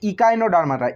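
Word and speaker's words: Echinodermata: তারপরে আছে ইকাইনোডার্মাটা, ECHI, ইকাই, এনোনো, ইকাইনো, DER, ডার, MMA, টিয়েটা, ডার, ইকাইনোডার্মাটা। তো আমাদের বাংলায় দেখবে উচ্চারণ করে করে লেখা আছে, বই যদি আমি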